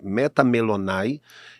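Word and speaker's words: μεταμέλομαι: Significa estar posteriormente preocupado com alguém ou algo, lembrando que a palavra, a pronúncia dela é metamelonai, e em segundo lugar é estar arrependido, arrepender-se.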